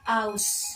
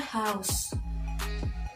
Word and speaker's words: haus: Contoh dari kesalahan berbahasa dalam tata fonologi adalah penghilangan fonem H pada kalimat pada kata aus yang seharusnya haus.